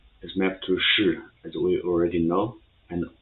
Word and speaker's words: 是: So 是 is its pronunciation as sh, as in the English word she. So if only sh, so it will be sh, 是.